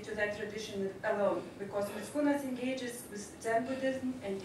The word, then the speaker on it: Mickūnas: And Algis Mickūnas, or for some in America, I think he's more known as Algis, right? So, but I will keep Lithuanian pronunciation, Algis Mickūnas. There are several reasons to